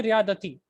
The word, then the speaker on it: رياضتي: Okay, there's no he. So it's only Riyadati. Okay, I don't like Mondays.